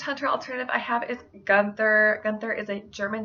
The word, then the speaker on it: Gunther: alternative i have is Gunther Gunther is a German name that means war army this name it can also be pronounced goonter and this name is